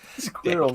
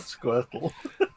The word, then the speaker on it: squirrel: ] off alan squire squirrel not squirtle squirrel it's one syllable um uh yes tell